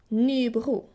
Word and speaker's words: Nybro: The southern third of Sweden says R. A little bit like the French R. Nybro.